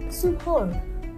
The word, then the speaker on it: suhoor: Kalau teman-teman type in di Oxford gitu atau Cambridge, dia nanti yang muncul adalah suhoor. Oh, tulisannya suhoor. Iya. Iya, The way they Iya, pronounce paham.